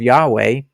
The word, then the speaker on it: Yahweh: Although there's some people who defend it, I've heard Nehemiah Gordon defend it, but it should be Yahweh.